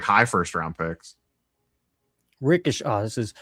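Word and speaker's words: Risacher: Ricochet. Oh, this is, how do you say his name? Ricochet.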